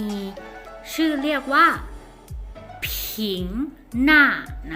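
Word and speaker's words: 是: อยู่ คือ นะ คะ ที่ ใน ภาษา จีน ออก เสียง ว่า ชื่อ นะ คะ ตัว นี้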